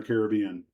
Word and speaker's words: Caribbean: And I honestly don't know what the proper pronunciation is. My guess is they're both right. It's like Caribbean or Caribbean.